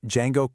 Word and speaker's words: Django: When asked his name, Django coldly states, "The D is silent."